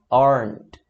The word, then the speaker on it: aren't: E raras as vezes você vai falar o T. Aren't, aren't. Raras as vezes você vai ouvir esse t, que é o T.